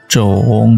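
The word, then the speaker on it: 种: Kalau kita kasih cong di kanan, kemudian kirinya adalah He Mu Pang, bacanya ternyata adalah Zhong.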